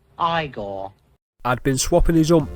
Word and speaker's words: Igor: marty feldman as a character eagle now it's pronounced igor i'd been swapping his ump from left to